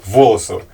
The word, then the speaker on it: Волосово: магнит из Ленинградской области город Волосово ударение на О спасибо за труд Что